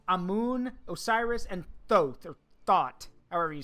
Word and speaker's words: Thoth: Osiris and Thoth or thought however you say it it's pronounced tote tote like tote bag yeah toast that's it